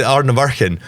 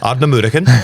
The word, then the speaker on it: Ardnamurchan: So I always used to say Ardnamurchan, but then I went out to Ardnamurchan and everyone said Ardnamurchan.